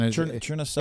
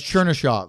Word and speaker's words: Chernyshov: Chernisov? It's Chernyshov. Chernyshov? Yeah. Chernyshov and Graf have both been on a line with Celebrini at some point or the other.